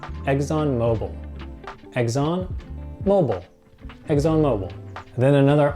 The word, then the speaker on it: ExxonMobil: We pronounce this ExxonMobil.